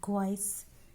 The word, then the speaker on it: quays: And lost it passes busy quays and floats a great ship to foreign seas. Quays and seas. So rhyming words.